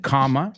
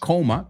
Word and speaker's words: comma: I already said comma, not coma, comma.